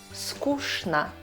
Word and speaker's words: скучно: Четвертое. ЧН. Читаем как Ш. Конечно, скучно и так далее.